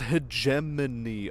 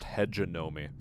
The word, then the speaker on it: hegemony: don't say wow it's pronounced hegemony okay oh no you've been listening to kips too much you're actually trying to tell me it's pronounced headgenomic or hegenomi a hagamine that's how you get yourself funny looks learn to speak with